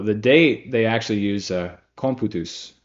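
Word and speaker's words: computus: date they actually use comput which is like it's spelled like amputous.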